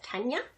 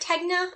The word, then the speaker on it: Tegna: So I made, I believe it is pronounced Tenya. I've heard Tegna, I don't think that's right, Tenya, by Caitlin Hunter, Boylan Knitworks.